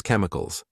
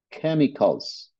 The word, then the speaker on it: chemicals: Our rivers with noxious chemicals H Okay noxious noxious something noxious is harmful And Be even fatal heavy Industry pollutes Our rivers with no chemicals c la pronunciamos como una k en este caso again nox harmful heavy